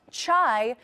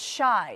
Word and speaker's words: Chi: Kim included instructions on Chicago's nickname, retweeting a post that read, "And to everyone who thinks it's literally pronounced chai, no, it's shy."